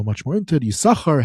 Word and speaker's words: Yissachar: Yissachar, how do you say it? Yissachar, if you pronounce both sins, all these different things, a lot of different materials about it.